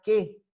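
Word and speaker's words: καί: Y si son dos verbos, entonces son dos oraciones separadas, unidas por una que, o por una kai, como se escribe, pero se pronuncia que, por una i, ¿no?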